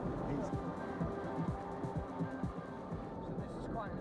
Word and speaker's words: Geysir: And they're pronounced geysers, are they? Geysir. We say geyser. Geysir.